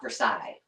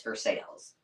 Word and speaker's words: Versailles: And I'll tell you, the people that live in Versailles are very quick to tell you it's not Versailles, it's Versailles. Well, it's a cool town though.